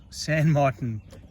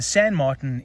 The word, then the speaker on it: San Martin: is in double hg i've just decided i'm going to say it like an englishman and i'm not going to try the french thing because i just sound ridiculous trying to say it in french just get that bezel